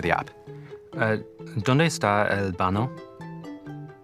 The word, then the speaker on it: baño: ¿Dónde está el baño? The word baño is pronounced baño with a soft ñ sound like in the English word canyon.